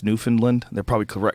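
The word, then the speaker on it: Newfoundland: was in New Finland I know how to say it now because people got mad at me cuz I said oh we calling it New Foundland I guess it's New Finland they probably cor correct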